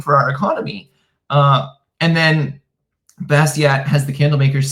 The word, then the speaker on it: Bastiat: Highly recommend Bastiat, by the way. Phenomenal. For decades, I pronounced his name Bastiat.